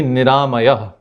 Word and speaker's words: Niramaya: In Sanskrit, it would be Niramaya. 4 syllables, Ni, Ra, Ma, Yah.